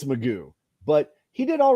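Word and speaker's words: McGough: whatever um it turned out his pronounce his pronunciation of his name is Magoo that didn't look like Magoo at all they don't look like no Magoo no apparently it's Magoo but he did all right he had he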